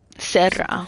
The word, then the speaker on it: Serra: Serra. Fishy about him. Roll your R's, Leon.